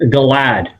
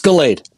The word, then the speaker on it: Galade: You're close. It's Galade. Galade, okay. The E is short then, I guess, right? Or the A is short. There you go. One of those syllables.